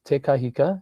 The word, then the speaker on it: Te Kahika: The pronunciation is Te Kahika, and you're doing very well, John.